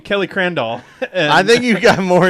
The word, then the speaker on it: Crandall: I keep saying Kelly Crandall. I think you got more ish from me, actually, than you actually did on everything. Twitter. It's like, it rhymes with candle.